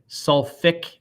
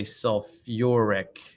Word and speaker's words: sulfuric: sulfate is right here sulfate so eight changes into ich but instead of saying sulfic acid you say sulfuric acid there's an extra you are some uh you know a syllable in there and then the next